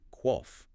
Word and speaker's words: qoph: So, unlike the English K sound, which is made at the roof of the mouth, the qoph is pronounced much further back in the throat, down at the uvula.